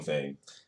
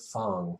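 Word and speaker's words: F.A.N.G: I'm call I call him Fang. Yeah, but the game pronounces it Fong.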